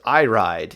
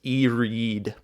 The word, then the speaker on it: Iride: this month much better i ride which is not actually pronounced i ride even though it looks like iride i believe it's e-reed two and four last